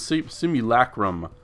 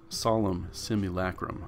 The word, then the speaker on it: Solemn Simulacrum: gore horn the psalms sleep simulacrum solemn simulacrum I said it right non for four